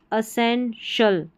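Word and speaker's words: essential: टी आई एल को शल पढ़ना है।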